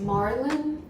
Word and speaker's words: Marlin: It's pronounced Marlin, like the fish.